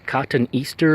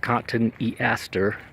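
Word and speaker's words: Cotoneaster: Cotton Easter is how I would pronounce it, but I've heard it pronounced Cotton Easter.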